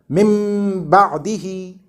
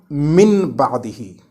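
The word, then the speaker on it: مِن بَعْدِهِ: Therefore, it will not be read as noon. Instead, it will be pronounced like the letter meme with closed lips and gunna, like mim ba'dihi, and not min ba'dihi.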